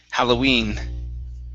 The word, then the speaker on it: Halloween: word halloween okay so here the stress is on the end of the word halloween halloween okay very good and